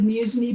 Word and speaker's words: Musney: He pronounces it Musney, but you can say it however you want.